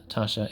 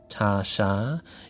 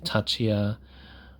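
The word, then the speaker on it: Taccia: And yes, Tasha is pronounced Tasha, even though it's spelled with 2 C's, like some people might say Tachia or another way, but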